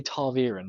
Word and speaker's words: ta'veren: and they definitely say Taviren a lot more. Now, yeah, the second syllable, excuse me, is Veer, according once again to the glossary at the end of the actual physical book.